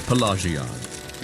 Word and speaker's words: Pelagiad: What do you think of Pelagiad? What say you? What do you think of Pelagia? That's how you pronounce it.